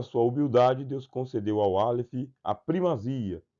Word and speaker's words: Aleph: E o Aleph ele não discutiu por quê? Porque ele é mudo. Não é uma letra que ele tem uma pronúncia por si só. Ele aparece, mas ele não tem um som.